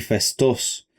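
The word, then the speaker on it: Phaistos: En realidad se pronuncia nosos y festos.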